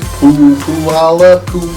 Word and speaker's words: Puyallup: If you look at the spelling, you would never be able to pronounce it.